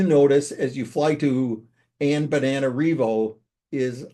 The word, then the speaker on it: Antananarivo: It means the word, and it's pronounced antan like a banana, Antananarivo.